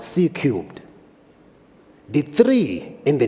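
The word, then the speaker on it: C³: we've called it csir C to the power 3 pronounced C cubed the three in the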